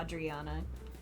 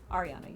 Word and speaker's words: Ariana: I was adding an extra consonant or something. Yeah, because I was calling her Adriana. Ariana, you're right.